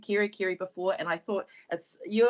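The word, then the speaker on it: Kerikeri: like to challenge you to say Kirikeri, which is more enhancing pronunciation of our whenua in Kirikeri.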